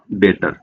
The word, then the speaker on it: debtor: तो सबसे पहले क्रेडिटर, क्रेडिटर और डेटर, ये दो वर्ड्स होते हैं, ये आप हमेशा याद रखिए, क्रेडिटर और DEBTOR, लेकिन ये इसमें बी साइलेंट होता है, डेटर बोलेंगे इसको।